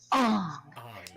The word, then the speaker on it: Ong: Instead of Aang, it's Ong. Ong.